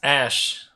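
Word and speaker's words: Aesc: This is pronounced Ash.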